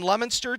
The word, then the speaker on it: Leominster: Todd Robbins alongside Bill Thomas and Kate Robbins at historic Doyle Field in Leominster tonight.